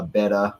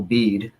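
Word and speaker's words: Bede: have been pronounced uh beta but that's like saying tacus and I'm not going to do it the venerable bead because that's how it's spelled um was a North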